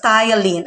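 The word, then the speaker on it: ptyalin: food to simple sugar with the help of thailand enzyme okay take note of the pronunciation of the word of the word spelled as p-t-y-a-l-i-n it's a thailand okay thailand enzyme when we say enzyme it is a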